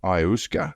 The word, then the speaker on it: ayahuasca: Antonovich died from a ruptured esophagus after taking Kambo and ayahuasca. How do you pronounce it, Joel?